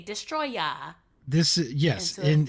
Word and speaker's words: Destoroyah: He's Destroyer, but it's pronounced I don't know in Japanese as like they say Destroya.